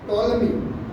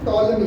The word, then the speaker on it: Ptolemy: को याद भी होगा, टोलमी। स्पेलिंग है PTOLEMY, पी साइलेंट, इसको क्या पढ़ते हैं, टोलमी।